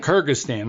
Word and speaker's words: Kyrgyzstan: morning well can you correct our my bad pronunciation the the two trips to how do you say that country Kyrgyzstan Kyrgyzstan I should have known man and the name